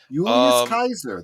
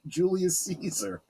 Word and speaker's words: Julius Caesar: It was old Latin, old classical Latin. Kaiser. They would say Kaiser, not Caesar, which I thought was Exactly. That's exactly right. Julius Kaiser.